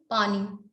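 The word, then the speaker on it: पणि: दास, दस्यु, पानी, पानी, पानी है ये प्रोनाउंस ऐसा होता है।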